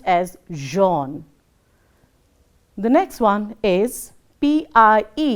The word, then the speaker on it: Jean: French names, when pronounced, have to take the origin of their language.